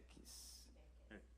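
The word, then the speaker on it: Merquis: And is it Marquez? It's How do you say your name? Merkis. M-E-R. QUIS. Yes.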